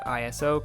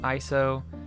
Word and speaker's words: ISO: shutter speed aperture and ISO pronounce like an acronym because it is an acronym is not ISO even though some people